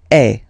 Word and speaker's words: es: And for tu, then you've got this combination of letters, okay, but then basically the sound you will pronounce or you will produce is est, okay. Tu es, all right.